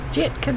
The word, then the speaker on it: Jitka: It's not a J. It's Jitka Design.